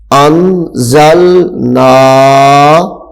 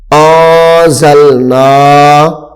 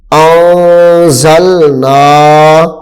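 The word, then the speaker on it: أنزلنا: نون الف زبر نا، انزلنا، یہ غلط ہو جائے گا، اب کیا صحیح طریقہ اس کا، آزلنا، آزلنا، آواز کو ناک میں لے کے جائیں گے، تھوڑی دیر ٹھہریں گے،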